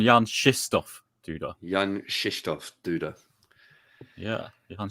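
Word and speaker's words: Jan-Krzysztof Duda: Yeah, we should start pronouncing it correctly. There was a 20-minute discussion between Leko and Gustafsson of various Polish names yesterday, and they settled on Jan Krzysztof Duda.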